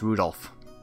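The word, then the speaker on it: 留弗夫: on it's just anyway this guy's name is pronounced Rudolph ha ha you must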